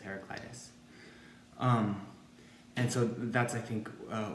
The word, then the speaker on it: Heraclitus: The name is Heraclitus, Heraclitos. I understand his Greek pronunciation.